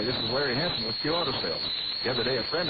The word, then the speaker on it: CU Auto Sales: We are CU Auto Sales, pronounced Q Auto Sales.